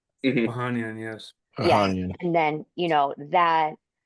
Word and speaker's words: Ohanian: Ohanian, yes.